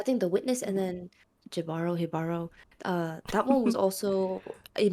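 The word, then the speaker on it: Jíbaro: But you know how in Spanish it's ja ja ja as ha ha ha. That's why Yeah. I was like, is the J the H?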